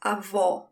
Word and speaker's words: avó: Grandmother is avó. There's an open sound for this O. Avó. It's almost like you are in awe.